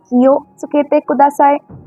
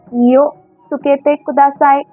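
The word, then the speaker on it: 気をつけてください: Kiyo tsukete kudasai. Kiyo tsukete kudasai. Now here, you don't explicitly pronounce wo, but to sound more natural like the Japanese, this is pronounced as o.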